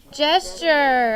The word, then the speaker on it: gesture: u r e gesture how do we know that the g makes the just sound in this word does anyone know let